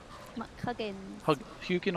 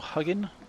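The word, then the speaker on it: Huginn: little crow buddy here hugin i think it's pronounced huguen or huggin and he basically gives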